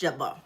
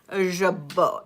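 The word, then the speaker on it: jabot: Um, I love this set and um uh uh um it's but it's pronounced jabbo jabo like the French way.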